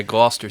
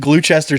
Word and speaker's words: Gloucester: we could fit in that's how you pronounce it yeah Gloucester I was calling it glue Chester City I thought you